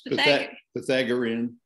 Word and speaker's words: Pythagorean: How do you pronounce Pythagorean theorem? That's pretty You're pretty close. Pythagorean.